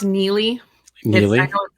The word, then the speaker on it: Nili: week we're with neilly is it h it's pronounced neie I know it spelled strange yeah okay no